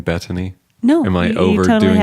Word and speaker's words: Betony: I have to ask, am I way mispronouncing by saying Betony?